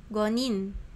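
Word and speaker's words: 五人: 1人 Hitori, 2人 futari, 3人 sannin, 4人 yonin, 5人 gonin, 6人 rokunin, 7人 shichinin, 7人 nananin. Hai, ijo desu ya. Demikian itu pengucapannya untuk jumlah orangnya ini.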